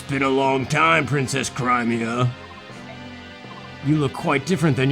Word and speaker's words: Crimea: I also just learned that it's pronounced Crimea. But I don't like that. I like Crimea better.